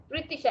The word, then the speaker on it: Pritisha: Pritisha, H is silent.